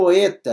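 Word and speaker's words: ἦτα: nosso de zeta depois vem o oeta é uma outra vogal Isso aqui é uma consoante isso aqui é vogal é o nosso e mais fechado enquanto éon preste atenção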